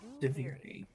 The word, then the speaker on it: Duviri: Duviri out loud is that's how you pronounce it, by the way. Deviri.